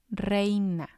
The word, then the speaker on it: reina: For example, we have reina, reina. It means queen. But the stress is going to be on the E because that's the strong vowel.